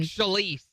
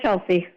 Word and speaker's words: Chelyse: Your name is spelled Chelyse. Is that right? Yes, yes. Wait a second. That looks like Shalise. You sure it's not Shalise? No, it's Chelsea.